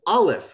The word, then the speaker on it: aleph: alphabetical order starting with aleph which is silent bet sounds like b